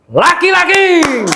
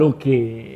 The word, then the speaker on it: Lucky: Kita sambut bersama Dokter Laki-Laki. Oh iya. Bacanya Lucky apa Laki dong? Lucky.